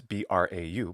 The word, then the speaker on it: brau: I don't know how to pronounce Middle Ages Provençal, but it's spelled brau with those letters, B-R-A-U, brau.